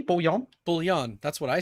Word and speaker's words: bouillon: Don't tell me it's bullion. That's the only other way I could see I've it heard pronounced. bullion as well, but it's bouillon.